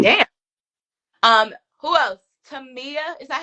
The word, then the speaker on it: Tamia: Tamia. Is that how you say her name? Tamia, Mm-hmm.